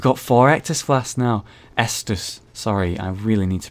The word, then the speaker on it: Estus: sort of checkpoint system oh my God an exus flash Shard oh yes we've got four ECT FL now Estus sorry I really need to pronounce that better